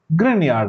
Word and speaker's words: Grignard: So I will say Grignard. The actual pronunciation is Grignard reagent. It's harder to say, so Grignard it is.